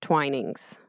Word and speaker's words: Twinings: have solved a true crime really yeah it's pronounced twinings oh boy this whole time wow I mean